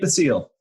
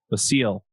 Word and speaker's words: Basile: you say your last name Nick I need the seal the seal hmm and yeah do you want to just